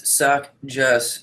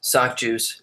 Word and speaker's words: SOCJUS: The correct pronunciation is SOCJUS is fine. Though I've had a couple of people pronounce it as sock juice. Not really got a preference either way.